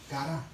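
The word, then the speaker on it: χαρά: ¿Saben que la palabra gozo en el griego se dice cara? Cara. C-A-R-A con acento.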